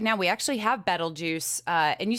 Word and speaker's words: Betelgeuse: But I definitely don't say Betelgeuse, and everybody's like, you're saying it wrong. And it's Betelgeuse, Betelgeuse. It depends on where you're from.